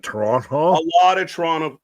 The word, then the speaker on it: Toronto: Adam is a former the T in Toronto was silent. Toronto. A lot of Toronto, like a lot the